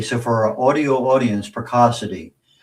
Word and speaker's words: Precocity: So for our audio audience, Picassity P R E C Oci TY like Pico City if you we're not pronouncing it correctly.